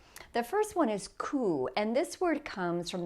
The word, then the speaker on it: coup: Okay, the next ones are words that have a silent letter at the end.